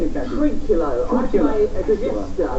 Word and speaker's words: Trinculo: And you play, is it Tulica? How do you say it, Captain? Trinculo.